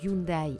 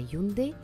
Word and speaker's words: Hyundai: envie au delà du changement de prononciation passant de hyundai à hyundai qui est sa phonétique d'origine le changement est surtout